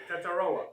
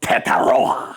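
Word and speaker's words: Tetairoa: Tetaroa. Tetaroa. See how he has that pronunciation down?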